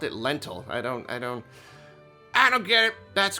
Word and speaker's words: Lental: Lental. So it's not spelled like lentil, like the beans, but you say it the same way, lentil.